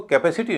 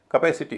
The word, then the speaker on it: capacity: Suffix है ITY। ITY से पहले क्या है, ए है, उसका उच्चारण तो भारी होगा, स्ट्रेस है तो। लेकिन उससे पहले जो हिस्सा है उसका उच्चारण हल्का हो जाएगा, तो इसको कैपेसिटी नहीं कहेंगे, कैपेसिटी कहेंगे, कैपेसिटी।